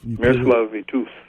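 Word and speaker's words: Miroslav Vitouš: You were on tour with I can never really say this right, but hopefully Miroslav's orchestra. You've Miroslav Vitus.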